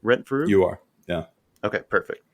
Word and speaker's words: Rentfrew: Am I pronouncing that right? Rentfrew?